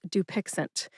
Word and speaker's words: Dupixent: The brand name is Dupixent. Dupixent has three syllables. That's do like duel, pix like pixel, and ant like the last syllable in the word president.